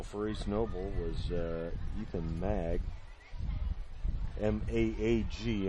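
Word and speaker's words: Maag: In on the tackle for East Noble was Ethan Mag. M-A-A-G. I'm guessing that's pronounced as though it's a short A.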